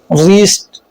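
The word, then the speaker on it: wrist: आर से पहले W silent होता है, जैसे wrong, राइट, रैप, रीस्ट, GH silent.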